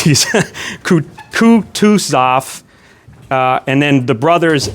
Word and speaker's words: Kutuzov: Kutuzov, and I looked up how to pronounce these, Kutuzov, and then the brothers N and V.V.